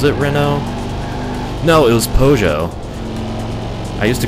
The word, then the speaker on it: Peugeot: No, it was Peugeot. I used to call it, like, Pugiot or something. Like, when I was little, I used to call Peugeot Pugiot.